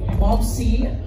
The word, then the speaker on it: Momsi: Momsi, Miss Malu? Accent po sa first syllable, ma'am.